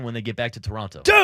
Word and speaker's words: Toronto: I had no idea until the World Series this year that you don't pronounce the second T in Toronto. Local, it's Toronto. Toronto.